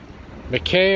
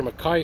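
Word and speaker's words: Mackay: Catherine Street which i think is where I'm going to conclude the video here is McKay or Makai Street however you want to pronounce it and this building right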